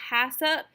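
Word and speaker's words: HACCP: you need to know that hasip that's what that acronym that's how you pronounce the acronym itself it stands for hazard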